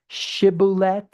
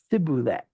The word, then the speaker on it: shibboleth: not it's them because they pronounce a word incorrectly, right? Remember, shibboleth versus sibboleth, right?